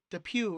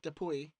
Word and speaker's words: Dupuis: aka off the post keep saying we're pronouncing de PUE wrong that gets de PUE instead of Dupuis let's say the boy